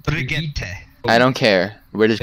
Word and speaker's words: Brigitte: No, it's Bridget. It's pronounced Brigitte.